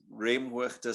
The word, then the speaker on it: Remhoogte: uh and then uh to pronounce reamworkeda slowly so we just say so rem is just rem how you would say that normally and then we just say say the g like a k so it's hooked so